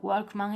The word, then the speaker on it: Walkman: Por otro lado, Walkman y Kiwi conservan la W, la cual se pronuncia como en inglés.